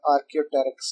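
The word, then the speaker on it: Archaeopteryx: तो वहां पर कुछ फॉसिल्स डिस्कवर हुए और साइंटिस्ट ने उसको नाम दिया आर्कियोटेरिक्स का। ये पी साइलेंट है यहाँ, तो थोड़ा ट्रिकी नेम है, बट you will have to remember that.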